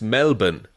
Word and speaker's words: Melbourne: The other one, Connor, is pronounced Melbourne, I'll have you know. Of course, there's no R in it, everyone knows that.